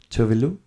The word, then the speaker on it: Tove Lo: And she pronounces Tove Lo. Oh, okay. And so I pronounce her I know name her. Tove Lo. Tove Lo, Disco okay.